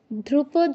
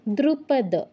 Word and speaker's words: দ্রুপদ: ধ্রুপদ পুত্রের আচ্ছা দ্রুপদ নয় এক মিনিট মহোদয়া ধ্রুপদ নয় ধ নয় দ দাঁতের দ্রুপদ বলুন মিসাইটা উচ্চারণটা কেমন হবে তুমি তো উচ্চারণ করলে তোমারটা